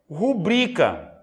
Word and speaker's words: rubrica: não possui um acento a pronúncia correta é rubrica Rodrigo tem acento não